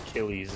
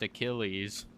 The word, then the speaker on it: Achilles: I'm pretty sure the tank is pronounced Achilles.